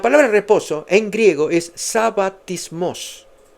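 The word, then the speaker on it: σαββατισμός: Dice, "Sabatismos es la pronunciación, sabatismo, figuradamente reposo del cristianismo como un típico del cielo."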